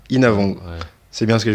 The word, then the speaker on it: Innavong: Voilà, ton nom de famille c'est Inavong. Inavong. Ouais. C'est bien ce que je me disais. J'ai toujours peur de mal prononcer parce que Les noms l'asiate, c'est toujours galère.